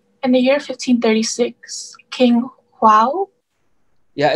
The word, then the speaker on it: João: In the year 1536, King João. Yeah, it's pronounced, in Spanish you pronounce it J as G, but in Portugal as J. So João.